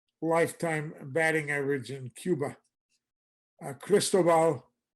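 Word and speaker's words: Cristóbal: Cristobal, accent on the O, Toriente.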